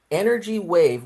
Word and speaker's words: NRG Wave: So, I found four of them that make Energy Wave, which is the name of the company. They they spell it NRG, but it's pronounced energy wave different.